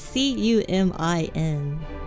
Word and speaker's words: cumin: Cumin? Cumin? Yeah, but it's not spelled like that. It's C-U-M-I-N. Cumin.